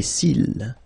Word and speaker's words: cils: Final S not pronounced. Les cils.